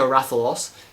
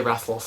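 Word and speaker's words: Rathalos: on the channel besides you're not saying it right it's greater ra they they change that oh it's a lot i believe they just say wrathless now um it's not to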